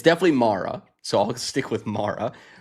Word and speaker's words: Mara: That's how you pronounced it. I actually don't know what it's definitely Mara, so I'll stick with Mara.